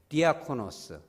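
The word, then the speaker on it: διάκονος: 사람들이 믿음이 있는게 아니에요이 단어는 뭐냐면 우리 따라서죠 디아코너스 디아코너스 영어로 데콘 데코는 정확한 발음이 아닙니다 d컷 니콘 뭐냐면 부재라고 하고 보조자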